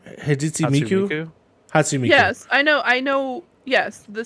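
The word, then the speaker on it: Hatsune Miku: Hatsumiku.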